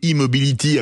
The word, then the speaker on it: E-mobility: monde vous êtes ABB immobility alors c'est un e comme électricité mais on le prononce à l'anglaise une fois à la